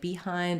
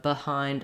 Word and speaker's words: behind: r U vowels and for a lot of people in words like behind and return if they try to do the I vowel they might end up sounding a little too tense and they might sound like behind and return it's better to go in the direction of behind and return um rather than getting too tense so when we look